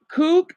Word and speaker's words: Kuoc: And so Eric Kook, he's an old classmate of mine that's from this country.